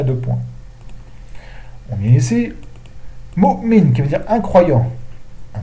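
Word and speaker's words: مؤمن: Donc le hamza, on va l'écrire sur un waou, qui ne se prononce pas. On ne dit pas mu'minu, on dit mu'min.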